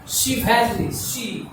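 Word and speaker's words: chivalry: शिवैलरी, श पढ़ेंगे, CH का यहाँ पर उच्चारण श होगा।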